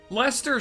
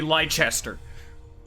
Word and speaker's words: Leicester: from the leicester alliance lester's shoulders still does not look like it should be spelled like that it should be lychester we could wrongs for